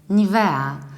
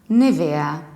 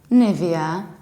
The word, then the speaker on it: Nivea: one and usually at least in Poland people pronounce it like NAVAIR so their way the Polish phonetic system would